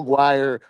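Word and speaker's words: Aguirre: He told me that he hit the ball so well because Joe Aguire rhymes with Mark Magguire.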